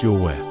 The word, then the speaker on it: Yahweh: burning bush Exodus 31415 the exact pronunciation of yhwh has been lost over time but scholars believe it was likly pronounced your where I am who I